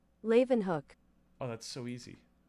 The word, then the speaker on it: Leeuwenhoek: Pronunciation. Leeuwenhoek. Oh, that's so easy. Leeuwenhoek. I did this for the other one. Leeuwenhoek.